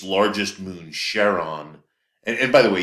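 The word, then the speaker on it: Charon: uh it's largest moon Sheron and by the way you can pronounce that Sheron or Kon um if you haven't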